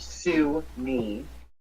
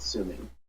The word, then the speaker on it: Sumi: Not Sue me, but Sumi.